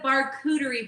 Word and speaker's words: Barkuterie: It's a Barkuterie board.